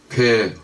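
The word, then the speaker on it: פ: 페 혹은 페이라고 읽습니다.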